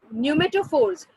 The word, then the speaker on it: pneumatophores: न्यूमेटोफोर्स इट इज a name बेटा. न्यूमा उसमें का पी साइलेंट होता है, जैसे निमोनिया में पी साइलेंट होता है वैसे न्यूमा NEUMA न्यूमा न्यूमेटोफोर्स.